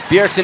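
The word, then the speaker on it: Bjergsen: one in the jungle the Jay is silent in this one yeah berixen in the mid lane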